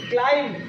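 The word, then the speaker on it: climb: এম বি কম সি এল আই এম বি ক্লাইম্ব পি এল ইউ M plum B ই পি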